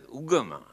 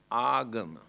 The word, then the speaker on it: agama: very meaningful word here now they pronounce as ugama but the original word is agama ah means purposely gamma